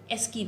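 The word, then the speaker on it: ASCII: बहुत सारे बच्चे इसको एस्काई प्रोनाउंस करते हैं, जो कि मैंने भी किया था, मैं भी जब पढ़ रही थी मैं इसको एस्काई पढ़ती थी, बट इट इज़ एस्की characters.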